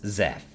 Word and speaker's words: XEF: Isabel asked, pronouncing the acronym as Zeph.